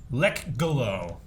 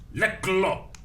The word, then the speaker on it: Lekgolo: Like blah, Well, try to pronounce a K and a G simultaneously. blah. See? Lekgolo. Well, you just ignore the K, like in no. KN, right? The K just doesn't matter.